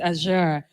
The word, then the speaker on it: Azure: us through Microsoft AER is it aure a like what's the right pronunciation because you said something I'm like is this ghanian way or Azure right Azure okay so we would introduce